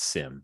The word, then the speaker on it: Cim: Let's say that they are a chiss by the name of Sim, like CIM, but it's pronounced Sim, like simulation.